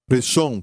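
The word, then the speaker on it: ראשון: O primeiro, seja no tempo, seja no ranking, seja na posição, em qualquer coisa, é a palavra Rashom. Diga Rashom. Reshon quer dizer primeiro. E se escreve assim, em hebraico, da direita para a esquerda: Resh, Aleph, Shin, Vav, Nun.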